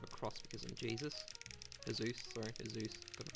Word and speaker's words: Heyzeus: Heyzeus. Got to pronounce it right.